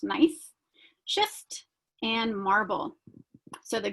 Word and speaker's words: gneiss: They were subject to pressure and high temperatures, creating what are called metamorphic rocks, such as granite, gneiss, which is G-N-E-I-S-S, pronounced nice, schist, and marble.